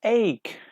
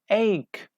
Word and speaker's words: ache: Yes, ache. We don't pronounce E.